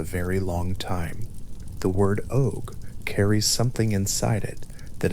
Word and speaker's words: Óg: The word og, that single long vowelled syllable, is carrying all of that when it is spoken.